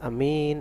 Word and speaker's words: amine: the last functional groups to study which is a mean and a mind that's how you pronounce it okay for a mean is a